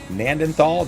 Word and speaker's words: Gnanthal: You got Gnanthal, the G is silent, the Canadian map.